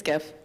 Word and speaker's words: GIF: could track it so how do you say the word gif it's an animated image is the definition it's pretty simple yeah graphics it's a hard G yes okay this isn't peanut butter it's give the person who created the